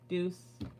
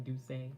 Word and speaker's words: Deuce: thank you so much Deuce thank you for teaching me the right way to say your name I feel like I should have known it to start with instead of duay but thank you for